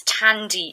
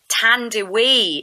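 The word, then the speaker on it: Thandiwe: who was known as Tandy Newton, but she um has said that people got her name wrong. And actually her real name is Tande Newton, which is the original Zimbabwean spelling of her name.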